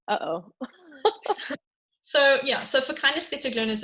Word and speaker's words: kinesthetic: Okay, so our last ones, and I can never pronounce this correctly. Will you do it for me? Kinesthetic. Kinesthetic.